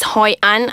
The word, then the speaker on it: Hoi An: to visit in Vietnam according to travelers is Hoi An I don't know if I'm pronouncing that right yeah you're right oh she's